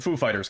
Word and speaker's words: Foo Fighters: different projects yeah basically the accent on the foo or the fighters it's on Fighters ladies and gentlemen Foo